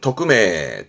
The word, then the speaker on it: 匿名: 발음은 토크메, 토크메.